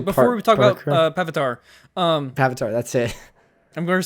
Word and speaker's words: Pavitr: Oh, actually, before we talk about Pavitr, Pavitr, that's it. I'm going to say that. Indian that's not Spider-Man. how you say it by like saying it that way, because like Indian Avatar with a P.